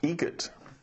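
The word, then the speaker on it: Eget: Egret. Spelt differently. Like the bird. That's Egret. Do you know what Adam Egret has in common with a guitar player? Adam Egret has in common with a guitar player.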